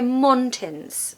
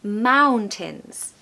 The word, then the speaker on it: mountains: We don't want to hear mountains, okay? Or mountains. It's mountains. The second part is like tins, like a tin of soup. Think of that word, tin, and you'll pronounce it perfectly.